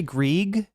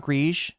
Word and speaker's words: Grieg: It's actually Grieg. It's not Grige. Oh, I'm pronouncing it French, aren't I? Yeah, even for French, wouldn't be like that.